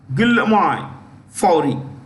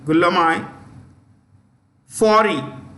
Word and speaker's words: Guillaume Faury: Okay, so its CEO is a guy called Guillaume Faury. I'll spell it. I repeat, Guillaume. I repeat, Guillaume. Guillaume Faury.